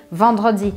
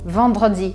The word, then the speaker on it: vendredi: Ou este E aqui, vendredi, vendredi.